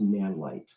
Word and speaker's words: Nanlite: And the other one is a company called Nanlite, and light on that is spelled L-I-T-E. So it's Nanlite.